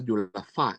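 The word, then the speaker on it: Dieulafoy: la lesión de deafo que creo se pronuncia difa en francés V ahí la frecuencia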